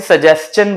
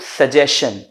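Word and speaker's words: suggestion: हैं ठीक है अच्छा मैं इसे सजेन बोल रहा हूं थोड़ा हो सकता है किसी को सुनने में अजीब लगे क्योंकि most of the people pronounce it सजेशन ज्यादातर लोग इसे सजेशन कहते हैं सजेशन उन्होंने सजेशन दिया this is नॉट सजेशन this is सजेन right और इसकी एक छोटी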